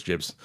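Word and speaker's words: gibs: it you see the jibs or gibbs whatever and um giblets it is jibs soft g and they did it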